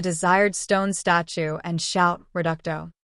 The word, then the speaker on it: Reducto: Stone statue and shout reducto please remember to stress the second syllable he offered kindly as